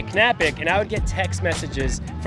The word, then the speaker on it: Knapik: in your last name you do pronounce the k my last name it's canapic I have told everyone that and everybody's like no it's napic it's it's silent like